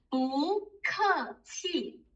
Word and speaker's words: 不客气: When you have two Chinese characters with false tones, the first one you change it into the second tone.